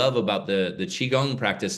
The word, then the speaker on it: Qigong: And Qigong, remember, guys, it's spelled Qigong.